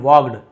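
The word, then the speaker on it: walked: stage यानी होता है जो बोलना चाहिए मंच की ओर धीरे से आगे बढ़े तो वॉक का सेकंड वॉक्ड एल को नहीं पढ़ना है साइलेंट है हिज काम फेस रेडिएटेड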